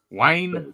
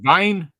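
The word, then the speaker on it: Wiene: You know, because a lot of the W's I think it's pronounced with a V because it's German, right? So, I think it's Robert Wine.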